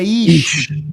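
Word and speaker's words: איש: Homem no hebraico bíblico se pronuncia Ish.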